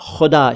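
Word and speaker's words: ख़ुदा: अपने कई वीडियोस में कि खुदा अलग होता है, खुदा अलग होता है, तो खुदा ना कहें, ये खुदा शब्द है।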